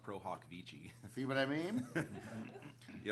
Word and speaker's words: pro hac vice: Well, I don't even want to tell you it's actually pronounced pro hoc vici.